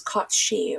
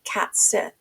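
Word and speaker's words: Cat Sìth: because of the fae known as Kotshi, or as it looks like, as it's spelled, cat Sith.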